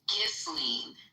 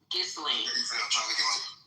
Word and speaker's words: Ghislaine: It's Ghislaine. Ghislaine.